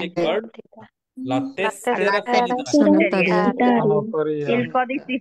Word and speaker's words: tessera: পাতেন্তা বলে, অনেকে বলে হচ্ছে patente অনেকে বলে তেসেরা, তেসেরা সানাতোরিয়া বলে অনেকে।